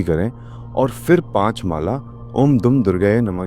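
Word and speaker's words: ॐ दुं दुर्गायै नमः: और फिर पांच माला ओम दुम दुर्गायए नमः की करें। इस मंत्र का उच्चारण मैं आपको बता देता हूं। इस मंत्र का सही उच्चारण है ओम धुम दुर्गाय नमः।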